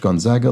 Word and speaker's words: Gonzaga: as in the school is pronounced Gonzaga like zigzag not Zog like Gonzaga